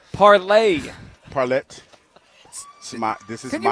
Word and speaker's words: parlay: You keep you you pronounce it as though it's a French word that ends with an e t. Parlet parlay.